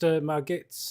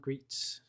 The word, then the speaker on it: Margit: Yeah, apparently it's pronounced Margits and not Greets, according to the Dark Genius.